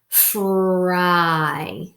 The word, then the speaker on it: fry: We know when the Y is at the end of the word, it says I. So we're going to read this as I. Fry, fry.